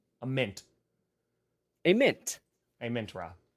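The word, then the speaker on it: Amon-Ra: just false am Min am Min raw a mint a mint a mint raw yes that's that's the correct the correct one yeah you know what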